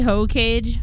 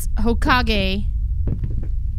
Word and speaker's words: Hokage: What is a hoe cage? Apparently, it's Hokage, pronounced by me.